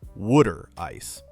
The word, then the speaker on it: water ice: The Philadelphia water ice, which Philadelphians stubbornly pronounce as wooder ice, is smoother than a